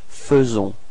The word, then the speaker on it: faisons: So here it's quite tricky because actually we write it A-I, faisons, but then we pronounce it faisons. Okay, and then final S is not pronounced.